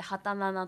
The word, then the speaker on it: 27: ごめんなさい、はいはい、27 で畑奈々と読むんですけ